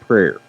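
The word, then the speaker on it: PWAR: PR w a r printing okay but it's pronounced prayer prayer printing uh he has his own company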